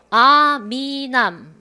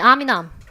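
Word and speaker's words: arm in arm: 발음 어떻게 하실 거예요? 아미남. 됐어요? 다시 아미남. 아미남. 연음. 우리나라 말도 연음 해야 되잖아요.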